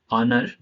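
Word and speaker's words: honour: ओ के पहले आया एच साइलेंट होता है, ओ के पहले आया एच साइलेंट होता है। चलिए एग्जांपल देखते हैं। ऑनर, honest, आवर, इको।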